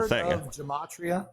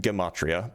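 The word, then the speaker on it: gematria: You're measuring some physical real gamatria. Have you ever heard of gamatria? It's pronounced gimmatria by the way.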